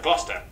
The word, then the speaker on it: Gloucester: Sester is pronounced stir. Leicester, Worcester, Gloucester.